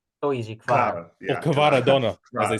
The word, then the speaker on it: Kvara: In Italy, we call him Kvara. So easy, Kvara. Yeah, or Kvara Donna, as they say on the internet.